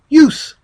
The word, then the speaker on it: US: However, do not pronounce the letters like we do when we say the word us. Pronounce the U as in universal, then add the S like it sounds when we say the letter S by itself. Then US together will sound like use.